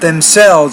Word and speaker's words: themselves: When you put self on the end of a word, myself, themselves, ourselves, we stress the self part of the word.